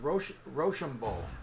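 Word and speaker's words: Rochambeau: that hey i'm just impressed how you uh pronounced roshambol roshambo very good you nailed it yeah well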